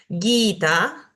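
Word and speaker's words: gītā: esta palabra bastante popular guita guita como el vagab guita que tiene dos vocales largas tanto la i como la a son largas Por ende tengo que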